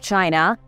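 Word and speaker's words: Qin: the Great Wall of China and even gave the country its name China as a word comes from chin spelled q-i-n but pronounced like chin because of his incredible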